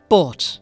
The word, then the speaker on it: bought: In most other cases, however, the GH will have no sound at all. Words like fight and bought and caught. Many of these words with a silent GH end in T.